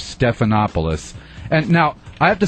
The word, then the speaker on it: Stephanopoulos: political correspondent of George snuffleupagus was mangled several times in various forums his name is actually George Stephanopoulos and now I have